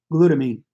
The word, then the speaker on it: glutamine: Glutamine is G-L-U-T-A-M-I-N-E, glutamine. G-L-U-T-A-M-I-N-E. Glutamine, I guess if you want to pronounce it, syllables.